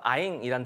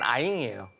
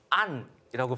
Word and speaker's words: anh: 아잉이라는 단어가 있는데 아잉이요? 예, 영어 스펠로 치면 ANH라고 하는데 북부 발음은 아잉이에요. 아잉. 예, 남쪽 지방에서는 안이라고 발음합니다. 같은 뜻인데.